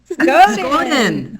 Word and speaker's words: Skoden: We say Skoden. Skoden. Okay, Skoden. SCODEN. Yeah. Oh my gosh. Let's go then.